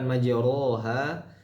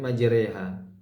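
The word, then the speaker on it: مجراها: surah hud ayat ke-41 ini dibaca dengan e yang telah kita ketahui imalah yaitu dengan mencondongkan fathah ke kasr ya maj dibacanya seperti itu dalam riwayat ha hanya ini saja kata ini saja yang dibaca dengan imalah Bukan majoha tapi majreha nah artinya kan ini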